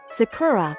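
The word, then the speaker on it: 桜: pointing arrow goui bako this can only be explained by the rules of the Japanese language please understand that like linking or connected speech in English there are phenomena in Japanese where sounds change when words are linked together. Therefore, please remember that Sakura and Zakura are the same word.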